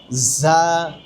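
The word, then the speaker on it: ظ: ঝা ঝা ঝা হরফটা উচ্চারণটা আমরা পরিপূর্ণভাবে সবাই সহি করতে পারি না। জা জা জা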